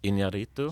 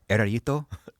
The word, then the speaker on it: Iñárritu: He has a last name, but I can't pronounce his last name. Iñárritu? Yes. Yeah. Erarito? Iñárritu, I think.